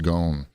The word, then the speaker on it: Ghosn: the Escape of Carlos I think it's pronounced gone g-h-o-s-n anyway it was